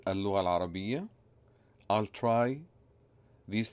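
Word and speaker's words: اللغة العربية: It is pronounced in Arabic as Al-Lugha Al-Arabiyya.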